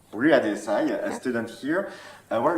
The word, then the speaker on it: Ria Desai: Ria Desai. Ria Desai, a student here.